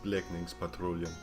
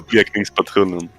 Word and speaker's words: Blekningspatrullen: call it in Swedish, Blekningspatrullen. You didn't pronounce that good at all. Yeah, I know. It's Blekningspatrullen. Patrullen.